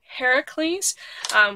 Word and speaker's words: Heracles: One or both was about Heracles, which I always want to say Hercules, but